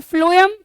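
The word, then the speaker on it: phloem: और फ्लोएम, एफ से फ्लोएम, एफ से मतलब खैर स्पेलिंग पीएच है बट ऐसे याद रख लो कि फ्लोएम और फूड।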